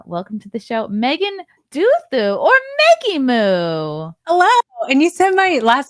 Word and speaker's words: Duthu: It almost like like Count Dooku.